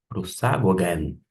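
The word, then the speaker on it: προσαγωγήν: Vou pronunciar de uma forma pausada para que você possa se familiarizar com a pronúncia. Prosagogen. Prosagogen.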